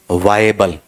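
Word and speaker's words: viable: ले लेगा ठीक है इसका उच्चारण करना बेटा जी वायबल वायबल या विएबल या वायबल वा य ए ब ए ल वायबल इस तरीके से बताओ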